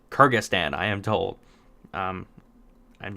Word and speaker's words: Kyrgyzstan: escaping me right now Kyrgyzstan the one with a really weird spelling named Carla that is pronounced Kyrgyzstan I am told I'm